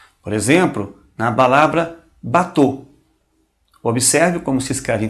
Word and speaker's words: bateau: A U é um som muito fácil, pronuncia-se como O. Um O fechado, né? O. Por exemplo, na palavra bateau.